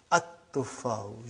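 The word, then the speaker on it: التُّفَّاحُ: See, there is no shadda. Anta, Dhamma is given. But now your mind knows that that is a sun letter. So you will pronounce as At-tuffahu.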